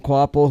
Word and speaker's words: Kvapil: You give guys an untraditional path to success, whether it be Carson Quapple, who I'm still learning how to pronounce his name.